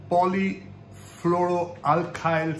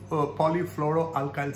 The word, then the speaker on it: polyfluoroalkyl: cookware contains prop polyfluoro let me let me pronounce that properly poly floral alkyl substances i think i got that right plural polyfluoroalkyl substances now polyfluoroalkyl substances are